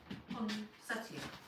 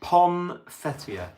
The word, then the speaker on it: poinsettia: It's poinsettia. Consettia. Poinsettia. Ponsettia, they're called. Poinsettia. Ponsettia. But you don't say it like that.